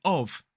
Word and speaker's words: of: When it is a weak sound, sometimes in connected speech, the of becomes a schwa, a cup of tea, a shelf of Lego, and cool stuff. So both the words a and of can, in connected speech, in fast speech, natural speech, be replaced by the schwa.